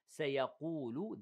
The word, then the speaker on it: سيقول: Now, سيقول, the cough here is heavy, make sure you pronounce it heavy.